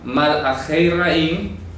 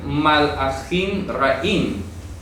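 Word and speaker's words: מלאכי רעים: Malachei Ra'im, ¿sí? Malachei Ra'im, o se puede leer Malachim Ra'im.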